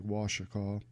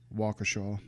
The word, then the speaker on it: Waukesha: Hashtag Waukesha. Or Waukesha, sorry. It's a name I haven't pronounced much.